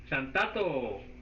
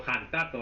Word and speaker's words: xantato: Xantato o jantato, a veces, porque a veces la X la pronuncian como J.